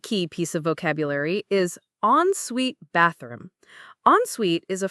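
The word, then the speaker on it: en suite: The pronunciation is on suite. It sounds like two separate words on suite.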